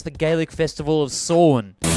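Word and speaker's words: Samhain: Irish ancestry who apparently didn't know how to pronounce the Gaelic Festival of sworn Sawan anyway I didn't want to put this album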